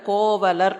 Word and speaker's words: கோவலர்: கோக்களை பரிபாலனம் செய்யக்கூடியவர்கள் கோபாலர்கள் இந்த கோபாலர் அப்படிங்கிற வார்த்தை தான் தமிழ்ல கோவலர் அப்படின்னு வரும் கோபாலர் அப்படின்னு வராது தமிழ்ல வரும்போது தமிழ் உச்சரிப்புக்கு கோவலர் குற்றம் ஒன்று இல்லாத கோவலர்